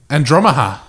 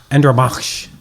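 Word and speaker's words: Andromache: The stranger said, call her Andromaha. Andromach. Yeah. Is the pronunciation, I believe.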